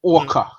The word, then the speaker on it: Aqa: But it's like, so my name is actually Orca.